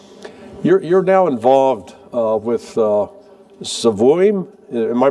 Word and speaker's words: Svoim: And uh you're you're now involved with Svoim. Am I pronouncing that right? S V O I M.